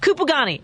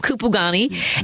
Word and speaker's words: Kupugani: of the camp appropriately well I pronounce it originally I heard someone pronounce it like with some Zulu Flair which I don't speak but I guess kupagani I got you camp kupogani and so first of